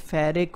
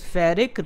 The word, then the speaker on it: ferric: Now, how to remember this ferric versus ferrous. This ferric rhymes with hat-trick.